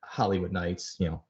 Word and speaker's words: Holiwood Nights: And if you're not aware, Holiwood Nights, it sounds like Hollywood as in, movies Hollywood, although they don't spell it like that. They spell it like Holiday World.